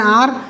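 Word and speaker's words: hour: Okay, अब यहाँ पर आपने एक्सेप्शन याद रख लें, एन आर।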